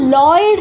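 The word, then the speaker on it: ঌ: পরেরটা যেটা নয়ের মতো দেখতে, নয়ের মতো দেখতে, সেটার উচ্চারণ হচ্ছে লয়ের সাথে যদি রিকার থাকে বাংলায়, তাহলে আমরা উচ্চারণটা ঠিক যেমন করব ঠিক তেমন, লৃ, লৃ, এরকম, লৃ।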